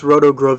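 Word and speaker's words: Rotogravure: hype sticker present because there it is ringo's rotograph viewer is the correct pronunciation and it's original no magnifying glass included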